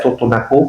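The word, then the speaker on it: Tutunakú: Y había un maestro que también lucha mucho por ello, decía tutunacú con acento en la U, ¿no?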